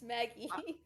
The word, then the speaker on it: Magi: That's not how you pronounce that word, though. It's Maggie.